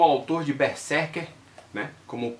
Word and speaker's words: Berserk: Essa palavra em inglês do mangá, a gente fala berserk, tá? É assim que se pronuncia, berserk. Esse S aí ele tem som de Z, tá?